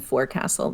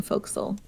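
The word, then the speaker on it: forecastle: ah yeah right so people weren't saying forec Castle they were saying fil and then they started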